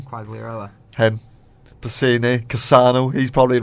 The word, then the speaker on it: Quagliarella: Quagliarella.